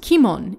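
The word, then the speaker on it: 鬼門: first of all what is the demon's gate pronounced kimon in japanese the kanji used for it literally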